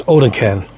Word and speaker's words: OdenKan: I think they separated it so you pronounce it the proper way, but K-A-N, put a C there and it's can, but I did look it up and it's OdenKan.